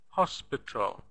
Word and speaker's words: hospital: is a stressed syllable so the first syllable is stressed here hospital hospital notice that the last syllable we don't have any vowel sound it's just T without a without a but in the spelling we